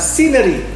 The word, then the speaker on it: scenery: Ingat ya, pengucapannya adalah scenery, yaitu huruf C di sini tidak dibaca alias silent C.